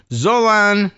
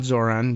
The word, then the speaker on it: Zolan: Maria Abi Khabib Zolan not Zoran Zolan Cano Young's Annie is